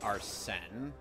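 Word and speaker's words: Arsène: the French novel uh the French novels of arsene LuPone are sent Oh I thought it was spelled arsna it is but it's pronounced Arsen oh well the French then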